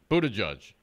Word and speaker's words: Buttigieg: You did it. You said it right the first time. Which one? The first, Buttigieg.